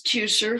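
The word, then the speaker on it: Teucer: yeah wonderful wonderful work um uh this is two sir who um who was a Mythic Greek archer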